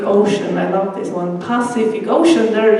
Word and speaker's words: Pacific Ocean: If you have in English Pacific Ocean, I love this one, Pacific Ocean, there you have three C's, and each is pronounced differently, right? Pacific Ocean.